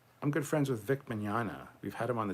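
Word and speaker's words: Mignogna: our vik manana interviews i hate his last name minyana i always used to say it wrong i finally got it right it's manana anyway check them out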